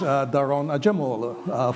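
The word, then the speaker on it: Daron Acemoğlu: having sharing a common language, I can properly pronounce his name, which is Daron Acemoglu for all of you.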